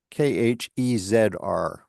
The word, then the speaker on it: Khezr: From seeing it spelled as Khezr. Okay. That's another way that it's often spelled. So that's the Persian pronunciation.